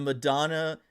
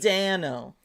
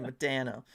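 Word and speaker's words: Modano: I'm fond of the Flames Blasty and the Madonna Arrow at the old Stars jerseys. Yeah. The Madonna era jerseys. Yeah, those were good. Madano. Gotta say it like a Canadian, RJ. Madano.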